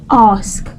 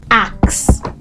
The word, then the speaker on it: ask: time and number 10 ask a k ask many times you say in a h right and that's why you say axe axe is ax e ask ask is a k let me do that